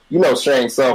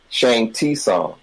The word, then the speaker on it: Shang Tsung: That reminds me of a guy that knew who, Shang Tsung from Mortal Kombat. He would say Shang T Song. Like, no, you don't pronounce the T.